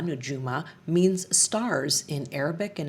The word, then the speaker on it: Nujuma: And Nujuma actually, pronounced Nujuma Nujuma, means stars in Arabic and it is inspired